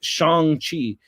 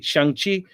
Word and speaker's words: Shang-Chi: Shang-Chi. It's more like a Shang-Chi. That's like with a really short chi at the end.